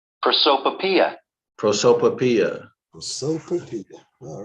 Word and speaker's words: Prosopopoeia: How is this pronounced? Prosopopoeia.